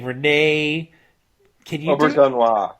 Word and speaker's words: Auberjonois: Auberjonois. Auberjonois.